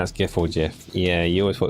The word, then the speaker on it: GIF: It's just that GIF in particular is a like graphics image format or file, whatever it is. So it is a hard G.